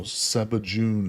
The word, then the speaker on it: Sebajune: It's said how it's spelled. So, Sebajune, Sebajune.